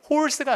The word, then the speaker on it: horse: 자, 영국식의 가장 큰 특징, 알 발음을 하지 않아요. 그 특강 보면 나와요. 그래서 이게 발음이 알이 빠지면서 길어져. 그래서 발음이 horse가 아니라 영국식 사람들이 이렇게 하지.